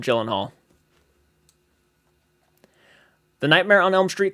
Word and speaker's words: Gyllenhaal: performance by Jake Gyllenhaal I guess it's pronounced Jake uh Elon Hall I think that's how you pronounce it actually Jake elenhaal but people just call him Gyllenhaal The Nightmare on Elm